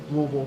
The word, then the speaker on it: Louisville: Louisville lost to a Division II school. I don't mind. You say it like Louisville, correct?